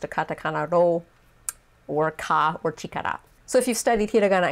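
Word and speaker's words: 力: a kanji full view it is pronounced chikara by itself and it means strength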